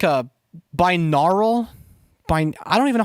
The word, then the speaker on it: binaural: But yeah, it's like meant to be like a binaural. I don't even know how to fucking spell it.